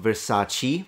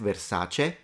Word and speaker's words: Versace: Versace, not Versace. That's correct. Versace.